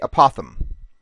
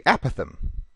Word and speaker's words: apothem: most people see it want to say apothem that's clearly the more popular way to go people seem much happier with it that way kind of like GIF but that isn't the correct way it's supposed to be apathym that's the correct way to do it so that's what I